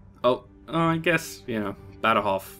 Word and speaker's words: Badajoz: Oh, I guess, you know, Badajoz. Badajoz's a little bit different. Because you would, if you were just saying it how it's spelled in English, say Badajoz. Badajoz? You wouldn't say Badajoz.